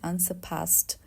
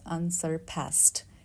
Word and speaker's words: unsurpassed: word we have unsurpassed we have two pronunciation for British we need to omit the r sound like unsurpassed or if you are speaking in American asent it's unsurpassed like past past for British unsurpassed and for American unsurpassed